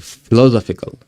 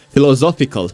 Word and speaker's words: philosophical: I forgot how to pronounce that word. Philosophical. I'm putting the accent wrong. Philosophical. That's it. Philosophical crap in my head at work.